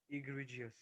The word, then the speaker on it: egregious: word children how do you pronounce that word e-g-r-e-g-i-o-u-s pronounce that word for me everyone egregious what egregious egregious yes very good only one